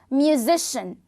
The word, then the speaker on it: musician: we don't have yeah because if we have c i a n this syllable of any word is pronunciated as sh musician physician and so on